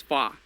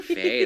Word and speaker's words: Fa: It's Fa. Okay, that's. Her I was name, Fa. waiting. I was like, he's calling her Faye. That's weird. Yeah, he always no. calls her Fa.